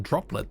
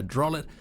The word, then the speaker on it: Drollet: I almost said droplet then. There's not a P there. Drollet gallery, you'll find yourself